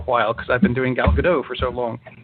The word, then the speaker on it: Gal Gadot: playing Wonder Woman because for the past two years now I've been calling her gal gadot which is the way it looks and sounds like a villain in a Godzilla movie and we've been saying it wrong the whole time it really is gal gadot o-ca french yeah she can she's not French Jesus she's Israeli so the T is not silent and that's and that's